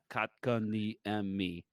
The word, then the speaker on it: Kotkaniemi: Last one Bill could speak to was Jesperi Kotkaniemi, that I think I just butchered his name. Kotkaniemi. Kotkaniemi. Kotkaniemi. There you go. You got it.